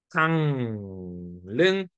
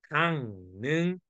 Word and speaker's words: 강릉: 니은으로 바뀌어서 강릉, 종로 이렇게 발음하는 거죠.